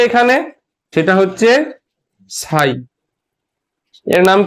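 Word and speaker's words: psi: কে এখানে সেটা হচ্ছে সাই এর নাম কি সাই উচ্চারণটাও লিখে রেখে দিই সাই পি এস আই সাই ঠিক আছে সাই কি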